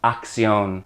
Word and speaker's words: acción: The first C makes that hard K sound, then the second C makes the S sound. Acción.